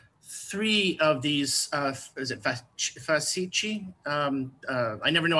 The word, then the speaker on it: fasces: Okay, yeah, that would be the Roman the Roman Latin pronunciation of it, fascus.